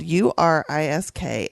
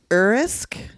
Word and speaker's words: Urisk: It's spelled U-R-I-S-K, and I've heard it two ways. Urisk and Urisk. I read it as like urethra.